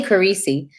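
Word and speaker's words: Corisi: Wait a minute, how do you pronounce it? I say Carisi.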